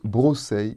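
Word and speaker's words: βρώσει: Dans le passage de Colossiens 2,16, ils sont au datif et se prononcent brosei et posei.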